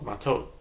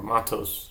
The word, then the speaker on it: Matot: It's what everyone calls it, Matot, or Matos, depends on your pronunciation, but they say Matos or Matot.